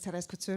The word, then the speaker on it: Thérèse Couture: I just want to say my name is Thérèse Couture, and it was very well pronounced.